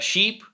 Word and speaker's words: sheep: But the letter E in sheep is pronounced like a regular E.